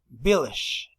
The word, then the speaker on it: village: because of the pronunciation village village this is the answer village b.i el a village remember that in English never never never saved or never pronounce the last letter when the letter is e if it's easy don't